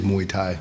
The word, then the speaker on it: Muay Thai: years, that's when I was like, I love Muay Thai. Yeah. And so help me and others understand what exactly is Muay Thai.